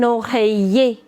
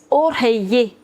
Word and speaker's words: oreiller: Pillow is known as un oreiller. Oreiller. Whenever you have I-double-L combination together, we don't pronounce double L. So it's oreiller.